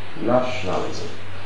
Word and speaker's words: nationalism: question one is national nationalism with stress on the first syllable now go to question